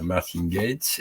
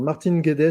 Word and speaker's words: Martin Guedes: j'ai lu oui alors Martin Guedes c'est un c'est un angises pardon je l'ai je l'ai mal prononcé ouedes c'est un anglais